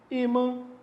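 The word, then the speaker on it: ímã: Porque é uma paroxítona, para marcar que essa é a sílaba mais forte, vem o acento no I, de imã, como vem no acento no O, de órfão.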